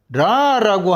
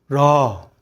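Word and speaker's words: רע: 그러면 히브리인들은 어떻게 읽을 거예요? 라 이렇게 읽는 거죠. 한국말로는 악, 그들은 라 이렇게 읽는 거지.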